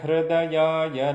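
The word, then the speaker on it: हृदय: Mayo, now it is not to Hridaya, Hridaya, Hridaya, Hra, not a Hru, Hra. Ra is the vowel. Ra is not the consonant. So the vowel R is pronounced there.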